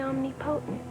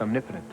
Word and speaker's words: omnipotent: I'm Amy the Omnipotent now. That would be pronounced omnipotent.